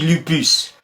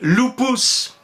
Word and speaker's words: lupus: vous ont appris latin le U on prononce u on dit lupus mais en fait les romains prononcit ou il disait loupous idem pour le V